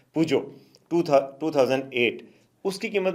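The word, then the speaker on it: Peugeot: आपको पता है एक और कंपनी है पूजो, जिसकी जिसकी प्रोनाउंसिएशन अदरवाइज़ बड़ी मुश्किल है कि मतलब अगर आप उसको करें तो कोई पिगट पड़ता है, कोई क्या पड़ता है, लेकिन असल उसकी प्रोनाउंसिएशन है पूजो।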